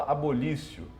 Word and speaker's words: abolitio: Se escreve abolitio, se fala abolício. Abolitio criminis.